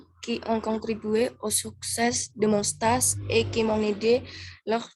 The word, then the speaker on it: stage: Ya, biar pengucapannya dulu bukan stage, tapi stage.